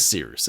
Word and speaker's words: Cyrus: My name is Seerus. It's spelled like Cyrus, but not like Sea Rooster.